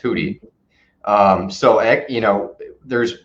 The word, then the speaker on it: Houthi: hoodies they're called um it's sounds like houthi but it's actually pronounced hoody um so you know